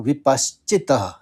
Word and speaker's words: विपश्चित: श के ऊपर आघात है तो स का दो बार उच्चारण करना पड़ेगा आपको और प के ऊपर आघात है तो पहले श का उच्चारण होगा फिर चौ का होगा तो विपश्चित तो इसको सुनिए पुरुषस विप